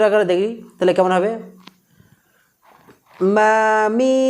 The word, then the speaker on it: মীম: তো মিমের মাখরাজ হলো দুই ঠোঁটের একেবারে এই শুকনো অংশ, একেবারে এমন নয় হালকা পরিমাণে আমরা এই শুকনো অংশের সাথে লাগিয়ে আমরা উচ্চারণ করব। ঠোঁটটা লাগান, লাগিয়ে নাকের বাঁশি থেকে আমরা মিম বর্ণটি উচ্চারণ করব।